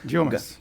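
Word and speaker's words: Yeomans: ¿Cómo se pronuncia el apellido de la diputada? Llomas.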